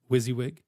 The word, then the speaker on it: WYSIWYG: it is I'm for those of you who don't know wizzywig wizzy as some like to call me some like to spell